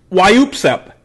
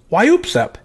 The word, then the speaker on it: WYOOPSEP: new favorite term and I'm gonna pronounce it for you a couple times why EWP's up why EWP's up so it's kind of like a sneeze right and it's kind of